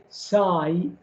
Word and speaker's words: psi: pronounce this letter psi you don't pronounce the p okay so you say psi is the uh schrodinger